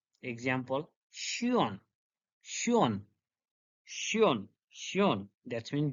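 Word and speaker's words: schön: Example, Shion, Shion, Shion, Shion.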